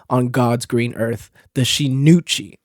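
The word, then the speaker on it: 真打: God's green earth, the Shinuchi. And I put so much emphasis on the Uchi part because I've been pronouncing it as the Shinuichi ever since I read the name.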